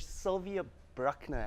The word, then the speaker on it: Sylvia Bruckner: on the show is Sylvia brockner have I pronounce that correct yes syvia how are you